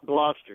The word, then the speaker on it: Gloucester: But and he's calling in from, is it Gloucester? Is that how I pronounce it correctly? Gloucester, yes.